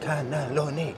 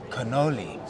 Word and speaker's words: cannoli: And she's like, this was going on for about 2 minutes, like, cannelloni. And then she's like, oh, cannoli. I added an extra syllable for some reason, ridiculous.